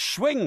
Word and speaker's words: Schwing: No, it's Schwing. Is that from Wayne's World? No, Raoul Schwing, and honestly, he's a researcher in birds, but his name is literally spelt S-C-H, and then wing, Schwing. right? That's wing.